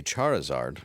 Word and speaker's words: Charizard: Um, last week a Charizard.